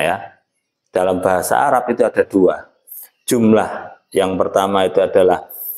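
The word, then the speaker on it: عدد: Dalam bahasa Arab itu ada dua. Jumlah yang pertama itu adalah rangkaian dari beberapa kalimat menjadi sebuah jumlah. Kemudian jumlah itu sendiri ada jumlatun. Nah, jumlah itu ya kumpulan. Yang selanjutnya adalah lafaz adad.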